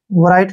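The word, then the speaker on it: write: पर W silent रहेगा जब भी आर से पहले डब्लू आता है ना तो वहां पर डब्लू साइलेंट हो जाता है आर आई का उच्चारण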